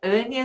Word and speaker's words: Anja: Então, meu nome é Ânia, se escreve Anja, parece nome de gringo, mas eu sou bem brasileira.